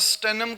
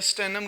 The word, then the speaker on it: Stannum: स्टेनम का जो है ना, ये है हमारे पास, स्पेलिंग है STANNUM, स्टेनम।